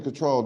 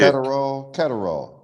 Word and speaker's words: Catterall: So the only reason Cottrell didn't win that fight, Cottrell, however you say his name, Jack Cottrell, Yeah. Catterall, Jack Catterall. I think that was it.